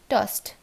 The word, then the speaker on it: tossed: আর tossed টা কীভাবে উচ্চারণ হবে, tossed.